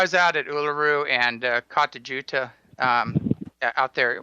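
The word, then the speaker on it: Kata Tjuta: And, I was out at Uluru and Katajuta out there. What's actually Katayuta is how you say it.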